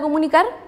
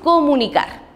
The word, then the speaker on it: comunicar: cuando digo la palabra comunicar la cargo más en estas sílabas comunicar si si hubiese sido comunicar o comunicar es distinto pero nosotros decimos comunicar y luego hacemos nuevamente